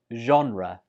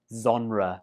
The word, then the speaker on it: genre: and it's pronounced as genre. Genre. That first sound, zh, is quite difficult for many students, so they change it to like genre or genre.